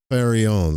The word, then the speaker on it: Faron: lull himself to sleep pronouncing the mantra faron like this far on faron. I'm sure he kind of rolls the r too like faron.